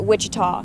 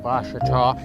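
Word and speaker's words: Ouachita: for wasita Baptist University back in Texas everybody pronounces it Witchita but really it's was wash was how would you pronounce it wash wash it's wash Baptist University get it right it's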